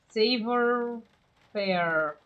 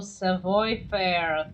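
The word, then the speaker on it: savoir-faire: Unequaled savor fair. Yeah, I have no idea how to pronounce this here. Oh, Savoy Fair.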